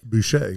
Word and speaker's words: Boucher: Boucher, like Bobby, like Bobby.